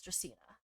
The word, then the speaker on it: Dracaena: How do you pronounce it? Dracaena. Okay, so it is Dracaena.